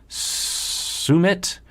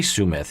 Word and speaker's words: Sumit: But he doesn't say sumth. He says sumit, right?